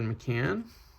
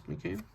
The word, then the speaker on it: McCann: Another joke is covering up Jared McCann. McCain I believe is McCain. I mispronounced that.